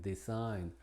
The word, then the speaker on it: design: Al final, assign, benign, design, foreign, paradigm.